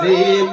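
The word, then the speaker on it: ج: সম্মানিত হাজিরিন, এরপরে আসি জিম অক্ষর। কি অক্ষর? জিম অক্ষর। ওই জিম অক্ষর জিহ্বার মধ্য থেকে কেমন করে পড়তে হয়? জিম অক্ষর জিহ্বার মাঝখান থেকে শক্ত করে পড়তে হয়। জিম অক্ষর জিহ্বার মধ্য থেকে শক্ত করে পড়তে হয়।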